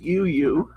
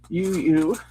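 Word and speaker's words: JEJE: This is They're It's J E J E, which is pronounced Yuyu. Peel off stickers. Yuyu.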